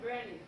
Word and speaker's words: Brandie: Um Brandie. Rhymes with candy.